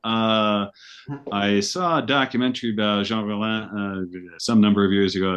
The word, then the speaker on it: Jean Rollin: Jean Rollin. Jean Rollin. Jean Rollin. Okay. All right. But it's pronounced that way? Jean Rollin would be the Frenchier way to say it.